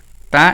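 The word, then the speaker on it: ت: এখন আমরা লিখি তা তা উচ্চারণ কিভাবে হবে? একটু পরে বলতেছি। আগে তা লেখা শেষ করি।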